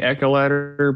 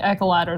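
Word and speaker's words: echeladder: ladder you are now I say I say echo letter but it's your ladder eyeballs it really reads like echo ladder though this missed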